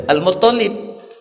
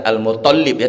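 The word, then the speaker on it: Al-Muttalib: Siapa yang mencuri tadi Al muttalib Jadi bukan al-mutholibin tapi Al Mut Mut olip soalnya itu yang tasydid yang dapat metonic nah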